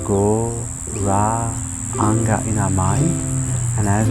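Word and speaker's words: Gauranga: be meditating on is go ranga mantra divided into four syllables so as we inhale you say the mantra go ra anga in our mind and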